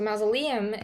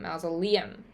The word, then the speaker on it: mausoleum: So, masleam is a noun. The accent is that Liam. Liam. Masalam.